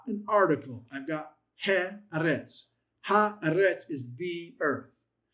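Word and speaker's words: ארץ: If I go to this word earth, okay, the word earth is the word eretz.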